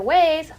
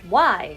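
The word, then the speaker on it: Weisz: to say about how I wrongly pronounced one of the characters name someone in the comment section corrected me about the pronunciation of the character ways and spell it out for me as why so that's what I'm going to call him for now on now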